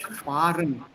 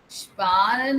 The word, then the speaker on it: sparen: Because that R sounds totally different for me than yours. Sparen. Sparen. Right. That R comes from the back of the throat.